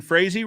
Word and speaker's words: Frazee: Brandon Frazee rhymes with crazy.